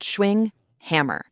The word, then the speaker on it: Schwinghammer: We're pulling this from Paul Schwinghammer, pronounced Schwinghammer, and his book, Building Better Relationships.